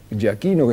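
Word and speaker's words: Giachino: El capitán Ja Aquino Ja Aquino es como se pronuncia exactamente su apellido iba al frente y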